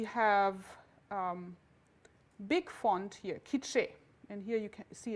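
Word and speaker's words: K'iche': from the linguist standpoint is a dialect of kiche but we classified as a language for historical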